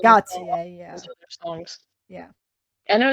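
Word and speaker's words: Gotye: I think it's Gotaier or Goautier. Go apparently. Technically it's Gotier.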